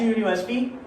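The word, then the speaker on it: university: क्योंकि यूनिवर्सिटी में यू जो है ये की साउंड दे रहा है।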